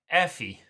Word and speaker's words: Effie: Pronounced Afi. Effie.